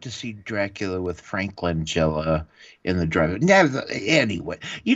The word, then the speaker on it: Langella: Frank Langella. Is how it's pronounced.